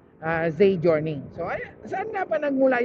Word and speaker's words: Giorni: Or kung babasahin mo kasi siya, Giorni. Pero yun siguro yung pronunciation, Journey.